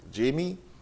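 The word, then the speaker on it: Jaime: So it is spelled J-A-I-M-E. Yeah. Jamie Elizabeth Inez Alverez.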